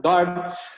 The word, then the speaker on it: guard: defender también es verbo guard pero fíjense que nunca estoy pronunciando la u es guard Nunca es guard Y